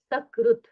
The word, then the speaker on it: सकृत: जैसे आप यहां देख रहे हैं सकृत सकार का उच्चार अच्छी तरह से करेंगे तो वहां अर्थ निकलता है एक बार। लेकिन वही अगर श ऐसा हम उच्चार करते हैं तो उसका अर्थ मल ऐसा हो जाता है।